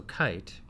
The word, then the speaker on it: Kiite: the name come from so kite it's spelled like all startups a little bit differently okay ìit and while